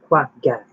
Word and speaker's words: quagga: It is commonly just called the quagga, which is pronounced quagga, if you want to pronounce it correctly, a name, a name that refers to the sound of its call.